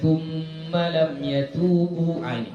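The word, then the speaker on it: ثُمَّ لَمْ يَتُوبُوا: Jadi seharusnya dibacanya lembut, dia tetap ada dengungnya. Innal ladzina fatanul mu'minina wal mu'minati thumma lam yatubu tetap ada gitu, ya. Enggak boleh kita lam yatubu, enggak boleh. Ya. Dengungnya harus ada, tapi jangan berlebih.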